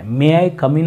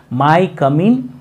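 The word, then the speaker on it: May I come in: medium ದಲ್ಲಿ ಕಲಿತಂತಹ ವಿದ್ಯಾರ್ಥಿಗಳು ಇದನ್ನ ತಪ್ಪಾಗಿ ಉಚ್ಚಾರಣೆ ಮಾಡ್ತಾ ಇರ್ತಾರೆ ಮೇ ಐ ಕಮ್ ಇನ್ ಅಂತ ಅನ್ನೋ ಬದಲಾಗಿ ಅವರು ಏನು ಅಂತಿರ್ತಾರೆ ಗೊತ್ತಾ ಮೈ ಕಮ್ ಇನ್ ಮೈ ಕಮ್ ಇನ್ ಅಂತ ಅಂತಿರ್ತಾರೆ ಇಲ್ಲಿ ಮೇ ಐ ಕಮ್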